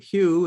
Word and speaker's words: HU: and the chant we call it Oni Hugh Hugh is spelled h-u it's a ancient name of God